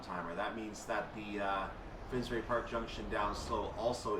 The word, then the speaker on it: Finsbury Park: so you can see Finsbury Park or finberry park is or Finsbury is exactly how you say it finnsbury Park is